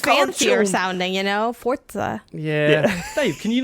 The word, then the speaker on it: Forza: We really, really want you to know it's pronounced Forza.